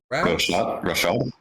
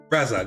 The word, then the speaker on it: Razad: Rashad? Razad, thank you.